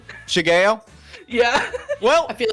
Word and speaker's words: Shigeo: Oh, I was just gonna say, actually, it's pronounced Shigeo. Shigeo?